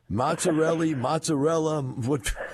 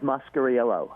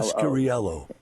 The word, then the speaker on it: Mascariello: pick the hardest names in the book to pronounce? Mozzarella, how do you pronounce it? Hey, as long as you remember us, that's all that matters. Mine's Mascariello, I-E-L-L-O. Mascariello in Prejean.